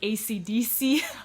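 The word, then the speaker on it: Esidisi: is spelled differently but the fact that it's pronounced ACDC like like the like the band I was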